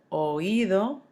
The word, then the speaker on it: oído: The spelling changes, remember you're accenting the I so that you don't have a diphthong form and make it one syllable. So, oído, leído, traído, caído.